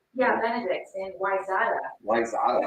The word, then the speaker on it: Wayzata: Which is, funnily enough, one of the most mispronounced Minnesota towns in the state. Really? Yeah. I didn't know that. You'd think it'd be Edina, because it's spelled like Edina. But no, It wasn't, huh? no, it's Wayzata. The wet surface is a